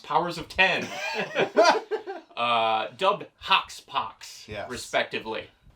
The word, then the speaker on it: Powers of X: powers of x which i later learned is pronounced powers of ten uh dubbed hawks pox respectively so to say